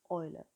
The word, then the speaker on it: Euler: is called e u ER s and it's pronounced Euler Euler's number so using Euler's number gives us